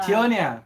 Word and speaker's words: Tionia: So Tiona, is that how her name is pronounced? Tionia. Tionia. Yes.